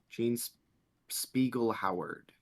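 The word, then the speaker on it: Jean Speegle Howard: a second ago uh Gene splegel if I'm pronouncing that right Gene Spiegel Howard there you go Gene Spiegel Howard yep and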